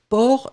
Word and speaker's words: porc: port Lovina faites attention port c'est avec un C d'accord P o r C donc on a on a le port oui donc c'est ça c'est final on le prononce pas hein mais on doit l'écrire allez on continue j'espère qu'il